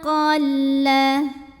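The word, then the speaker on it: قَلَّ: Mimma qalla. Ada lam tasydid. Hati-hati tidak ada dengung, jadi ini cukup ditekan aja, jangan sampai ditahan.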